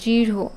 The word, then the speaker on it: দীর্ঘ: তাহলে যেটা হতো দৃঢ় ঠিক এরকম না র আর হ মানে একটু মিলেমিশে উচ্চারিত হয় মানে হ টা একটু নরমালের চেয়ে কোমল আবার র টা একটু হ এর মত মহাপ্রাণ এরকম উচ্চারণ হয় দীর্ঘ কাজেই এটা আর এইচ